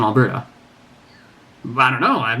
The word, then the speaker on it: Alberta: And yet, in English, how do you know that the stress is supposed to fall on the first syllable in Calgary, but the second syllable in Alberta?